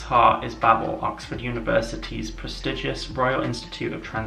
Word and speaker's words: Babel: we have Babel, or as some people apparently pronounce it, Babel. Apparently that's how you're supposed to pronounce it, Babel, but it just doesn't sound right. So I'm just gonna call it Babel.